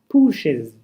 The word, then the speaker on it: pushes: We write pushes with es but we pronounce it as ez. You say pushes.